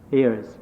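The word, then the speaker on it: heirs: is that correct you how do you pronounce this word for the sun ears h-e-i-r-s ears ears okay so seiji means along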